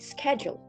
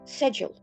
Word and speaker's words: schedule: In the US, we call it schedule, schedule. And in the UK and Australian, they commonly pronounce it as schedule, schedule. So they just eliminate the k sound and they emphasize on the first syllable, schedule.